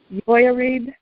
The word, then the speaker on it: Jehoiarib: And in Hebrew, it is pronounced Jehoiarib, which means Yahweh pleads or contends.